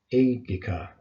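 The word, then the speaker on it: ἤγγικα: Remember when you've got two gammas together like that, it forms an NG sound, like the word angel. We don't say engel, we say angel. So you want to pronounce this engika.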